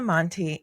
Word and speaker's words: Monte: Am I pronouncing that correctly? Let's start there. You are. My last name is made up by my dad. My The rest of my family has Montlbo, so yeah, it's not Monte or anything.